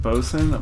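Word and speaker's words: boatswain: a buddy so well well it's Wayne is pronounced bosun blew my mind no it is yes at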